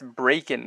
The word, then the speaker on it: Bracken: I like the track I used to pronounce this artist name completely wrong it's breakin not brac and Bracken where ever you